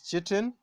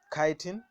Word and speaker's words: chitin: to other polysaccharides uh one of them is cheating or some of you can pronounce it as chitin yeah so chemically and